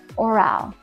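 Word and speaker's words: aural: this really hits is called orale so not oral this is spelled a u r a l and this learning style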